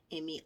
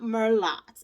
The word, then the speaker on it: Merlot: Merlot, yes, Merlow is how you pronounce it, not Merlot, okay?